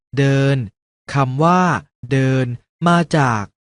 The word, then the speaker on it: เดิน: คำ ว่า เดิน อ่าน ว่า ด เออ น เดิน คำ ว่า เดิน มา จาก ด เด็ก ประสม กับ สระ เออ น หนู สะกด ว่า เออ น อ่าน ว่า เดิน ดัง